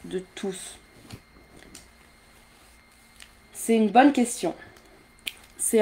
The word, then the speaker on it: tous: Là, tous, il est tout seul, d'accord? Alors, il faut prononcer le S. Je ne sais pas pourquoi, mais c'est comme ça, c'est la règle.